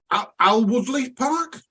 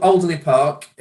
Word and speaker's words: Alderley Park: And it's at Alwoodley Park. Is that how you pronounce it? Yeah, it's at a place called Alderley Park, just outside Macclesfield, and on the edge of Alderley Edge.